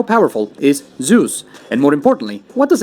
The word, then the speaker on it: Zeus: I guess at least once I can say zevs but for the rest of us who shower every day how powerful is Zeus and more importantly what does it matter well